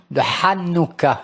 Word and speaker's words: Hanouka: savoir la fête de Hanouka. Il faut prononcer le het comme il convient. Hanouka, qu'est-ce que ça veut dire Hanouka?